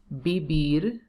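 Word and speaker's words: vivir: in that v so you have to pronounce b and v like b bibir for example if i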